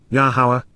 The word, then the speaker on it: Yahowah: From Dowd, La Dowd to you, Yada Yahowah, Yahowah, God's proper designation pronounced as instructed by his Torah, guidance on